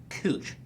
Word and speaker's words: Couch: voted that exactly but they pronounce it as cooch cooch is another name